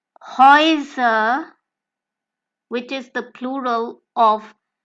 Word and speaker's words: Häuser: So going further, we can have double vowels combination of the alphabets A and U, which will be pronounced as OI, as in OI, or OI as in OY. And this OI sound can be